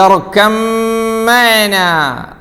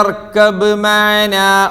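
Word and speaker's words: ٱرْكَب مَّعَنَا: ആരെങ്കിലും അവിടെ യാ ബുനയ്യ ഇർകബ് മഅനാ ഓതിയോ? ഇർകബ് ബ് മ ഓതിയില്ല. ഇർകപ്പ ഓതിയോ? ഇല്ല. എങ്ങനെ ഓതി? ഇർകം മഅനാ അല്ലേ? ബാഇൻ്റെ ഉച്ചാരണം തീരെ ഇല്ല. ഇർക കഴിഞ്ഞ ഉടനെ നേരെ ശദ്ദുള്ള മീമിലേക്ക്.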